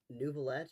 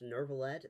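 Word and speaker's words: Neuvillette: This is This is Nouvolet. Nurvallet. They They pronounce it with an R in the game, and there's no R there.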